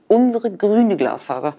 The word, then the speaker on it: Unsere Grüne Glasfaser: Thank you for having me here, and we pronounce it Unsere grüne Glasfaser.